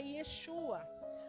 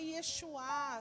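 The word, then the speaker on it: ישוע: Mas no original hebraico a pronúncia é Yeshua. Ah, é Yesuá, gente, tanto faz, né? Essa essa parte aí não tem muita diferença não.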